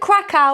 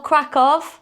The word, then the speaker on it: Kraków: welcome to another video do we pronounce it craa or krackov crack of we're going with krackov apparently and welcome to krackov